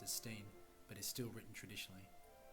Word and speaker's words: Stein: use the English pronunciation steam as when two vowels are together in English the first one is pronounced to this day the family name remains pronounced as steam but is still written